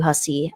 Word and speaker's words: Hussey: So just getting an idea, for example, Matthew Hussey, which actually I never told you how to pronounce his last name.